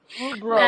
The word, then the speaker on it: Rubruck: Rubrock. I pronounce it as Rubrock. Robrock. Robrock. Sir. Their name is wonderful. Is it not you? I think it is Rubruck.